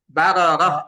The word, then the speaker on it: بررة: كرام بررة বারারাহ, টান নেই।